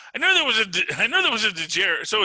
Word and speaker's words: Djarin: So it's the last name that has the DJ. The first name Din has just the D.